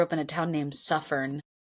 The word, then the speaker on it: Suffern: My I grew up in a town named Suffern. Suffern with like suffer with an N at the end.